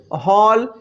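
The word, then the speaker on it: hall: আমি আরো একবার বলছি এ এর পরে যদি ডবল এল থাকে তাহলে ওই এ ভাওয়েল এর উচ্চারণটা হয়ে যায় অ যেমন এইচ এল এল হল টি এ এন এল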